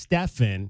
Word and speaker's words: Stephen: all right so his his last name is spelled like Stephen but it's pronounced it's pronounced Stefan he uh is out